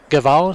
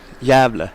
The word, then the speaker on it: Gävle: am not going to say this correctly, but Gavle, Sweden? Gave. Gävle.